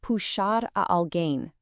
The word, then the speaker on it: puxar alguém: The core phrase we're looking at today is puxar alguém, and the definition is actually pretty simple.